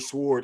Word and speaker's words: sword: Can we talk about the ninja sword in Jack Knight's background or we just gonna leave that as that for later?